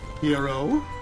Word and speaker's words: Hiro: Just like how the way she pronounces Hiro like actual Japanese.